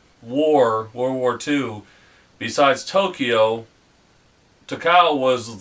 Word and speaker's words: Takao: Yes, we pronounced it right? Right, Takao.